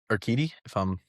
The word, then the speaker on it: Urquidy: Jose Urquidy, pronounce his name for me again? Urquidy, Urquidy, right.